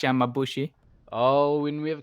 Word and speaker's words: Yamabushi: My Japan pronunciation is exactly the greatest either, but I think it's Yamabushi.